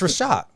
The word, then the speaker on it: Reshat: It's Reshat.